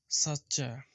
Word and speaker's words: সাচ্চা: সাচ্চা, সাচ্চা। এই অংশটা আলাদা করলাম এখানে। এখানে অক্ষর রয়েছে চ আর চ। সাচ্চা, সাচ্চা।